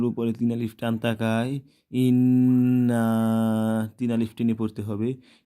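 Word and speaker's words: إِنَّا: আলিফ নুন জির ইন, নুন আলিফ জবর না, ইন্না। এখানে নুনের উপর তাসদিদ তাকায় ওয়াজিব গুন্না হয়েছে, তাই ইন্না। আর নুনের উপরে তিন আলিফ টান তাকায়, ইন্না।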